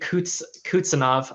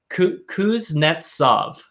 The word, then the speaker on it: Kuznetsov: mob okay all right moving on to timothy kutsanov i god dang it kuznetsov sorry guys my russian pronunciation not great but that's better known as